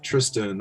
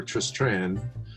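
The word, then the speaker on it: Tristran: now if nothing else the pronunciation of tristan over tris tran just like i never knew how i was supposed to pronounce that t-r-i-s-t-r-a-n right but anyway like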